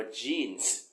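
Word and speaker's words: jeans: ว่า อะไร ครับ อ่า ที่ ถูก ต้อง ต้อง ออก เสียง ว่า จีน จีน มั้ย จีน เพราะ คน ไทย อ่าน ว่า ยีน ไง กางเกง ยีนส์ นี่ แหละ ฮะ แถม ไม่ เติม s อีก ต่าง หาก นะ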